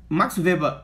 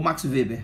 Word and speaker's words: Max Weber: Quando Max Weber, ou Max Weber, você pode se pronunciar qualquer, como você quiser.